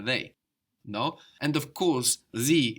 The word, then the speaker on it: sie: And of course, sie is like die with an S. Die, sie.